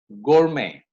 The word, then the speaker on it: gourmet: There are some French words again that have come into English, like ballet, buffet, gourmet. The T goes silent in these words.